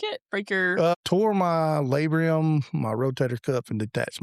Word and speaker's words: labrum: Tore my labrum, my rotator cuff, and detached my bicep tendon. Is it labrum or labrium?